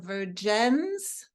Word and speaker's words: Vergennes: And Sarah is in Vergennes, Vermont. I pronounced it correctly.